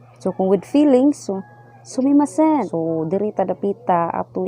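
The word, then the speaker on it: すみません: So kanang sumimasen, pwede po na nila i-slang. Pwede po sila moingon sumimasen. Slang na nila, pero ang kuan gid ang spelling gid na sumimasen.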